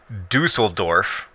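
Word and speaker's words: Düsseldorf: you ready it's pronounced Dusseldorf lengthy nestled up said dussel Dorf like it's like it's a duffel bag it's Dusseldorf okay I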